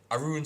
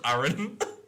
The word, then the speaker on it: Arun: you say my name because it's just Aaron. No, it's Arun. So Arun, Oh, he started getting called Arun because when I said Aaron, you said your son, and that's when we started calling him Arun. That's because it's spelled A-R-U-N, isn't it?